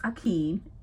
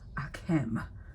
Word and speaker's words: Akem: Okay, it's not pronounced Akeem, it's pronounced Akem.